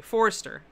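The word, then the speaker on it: Foerster: Of course, my family pronounces it, in this country, Forster. Which always confuses people because the OE. Like, they just don't know how to deal with it.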